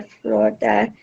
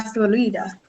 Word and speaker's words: Florida: La Florida. Okay, so different pronunciation. In English, we stress the O, Florida.